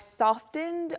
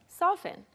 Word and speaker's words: soften: 그런데 T 발음이 부드러워져서 yeah, the T there becomes softer. You usually soften the T sound in soften.